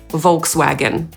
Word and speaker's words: Volkswagen: Ale Amerykanie i Anglicy sobie ją zangielszczają, a więc mówią /ˈvɑːlkswægən/. Kolejna marka to Nissan.